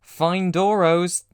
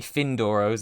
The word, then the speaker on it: Fyndoro: Findoros, or maybe Findoros, it's a Y.